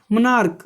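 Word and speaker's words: monarch: क्यों, क्योंकि इसका जो उच्चारण है, जो प्रोनाउंसिएशन है उसका क्या होगा, वो क आ रहा है, जैसे कि स्टमक। ठीक है, मनार्क, मनार्क का मतलब क्या होता है, राजा वजा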